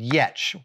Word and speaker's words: Giertz: site of her designs and products is called yet ye T C which is funny because that's how you pronounce her last name which is spelled g